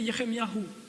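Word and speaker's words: ירמיהו: nom se prononce ainsi pour Ilie c'est Eli Yahou pour Jérémie c'est yeremyahou et et donc le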